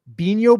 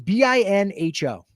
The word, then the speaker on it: Binho: And so there are two Bino boards. I've never played Bino. And some of you are saying, I have never even heard of Bino. Am I pronouncing it right? I don't even know. It's Binho.